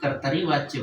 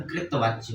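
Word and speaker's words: कर्तृवाच्य: कृवाच्य जिसको कुछ लोग कर्तरीवाच्य बोलते हैं बट इसका सही उच्चारण कृवाच्य होता है।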